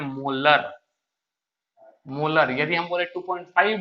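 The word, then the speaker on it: molar: और 2.5 एम ये जो होता है ना, इसको हम लोग प्रोनाउंसिएशन करते हैं मोलर।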